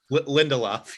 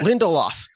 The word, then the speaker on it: Lindelof: week, where it was, I believe, is Damon Lindelof is how you pronounce his name? Lindelof, yeah. Lindelof.